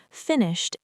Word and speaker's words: finished: Finished ends in t.